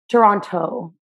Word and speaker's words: Toronto: from originally toronto canada toronto i get my grandma gets really mad at me when i don't pronounce the t's but no one from toronto actually says it though so yeah and